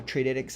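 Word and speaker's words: Tradytics: you'd pronounce that uh t-r-a-d-y-t-i-c-s uh trade edx I believe it's how you pronounce it um they have golden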